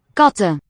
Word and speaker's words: katten: Okay, with the following E initial word here, we'll hear this N. Katten.